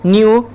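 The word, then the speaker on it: know: Hidden, hiding, hides, नो, न्यू, नोन। इसको क्या पढ़ते हैं? नो पढ़ते हैं, क्योंकि हमारा के क्या होता है? साइलेंट होता है।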